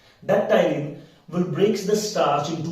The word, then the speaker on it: ptyalin: P is silent here. It is referred as ptyalin. That ptyalin will break the starch into maltose, isomaltose and alpha dextrins.